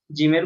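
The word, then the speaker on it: ج: বা তা হা জিম জিমের উচ্চারণটা স্বাভাবিকভাবে হয় না একটু জোর দিয়ে উচ্চারণ করতে হয় জিমের উপর একটু প্রেসার লাগে জিম এভাবে জিম তারপরে আছে হা খ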